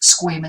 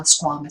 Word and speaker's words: squamous: know so there are sometimes for words a couple of different accepted pronunciations squamous cell squamous cell those are both accepted but you shouldn't be